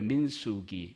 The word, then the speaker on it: 민수기: 그래서 민 발음 잘해야 됩니다. 김민숙민숙할 때처럼 들려요. 민수기 민수기입니다.